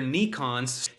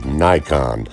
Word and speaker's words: Nikon: You all love whipping out your Nikons. Okay, Dumb Dave, it's called a Nikon, not a Nikon.